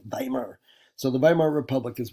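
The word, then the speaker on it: Weimar: Um, and that is pronounced Vimar. Okay, Vimar. Uh, not Wimmer. I know that's what it looks like, but you see the W's in German. It's always with a V, right? Vimar.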